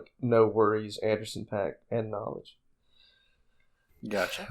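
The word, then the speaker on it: NxWorries: And they go by the collaboration name No Worries, where the O in No is replaced with an X.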